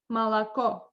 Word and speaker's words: молоко: like for example, молоко, Молоко. O is under thread, the last one. That's why. Молоко. Yes, that's why I pronounce it like Malaco.